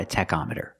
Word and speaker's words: tachometer: Let's call it a tachometer. With the word tachometer, the CH makes a k sound. k k tach.